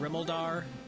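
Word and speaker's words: Rimuldar: Like, I call it Remolder. Some people call it Rimeldar for the key town.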